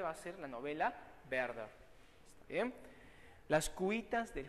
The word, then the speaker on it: Werther: Claro, algunos dicen Werther por una mala utilización de la letra W, en alemán se pronuncia como pronunciamos nosotros la B de vaso o de vaca, así es Werther, no Werther.